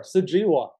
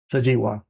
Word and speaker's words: Sujewa: Okay, I might have to pronounce that a couple times. Sure, Sujewa. Sujewa.